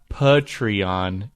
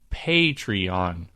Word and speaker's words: Patreon: next but that's true it's not patreon it's patreon pay rhymes with hey ha ha you know